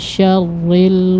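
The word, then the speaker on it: شَرِّ: Ri di sini pengucapannya tipis ya. Syarril, ri. Ri. Kalau syarril karena setiap ro yang kasroh dia tipis ya.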